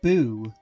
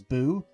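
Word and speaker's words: ぶ: For example, the character that's like Fu, if it has the two dashes on it, it's pronounced as boo. It's pronounced as boo.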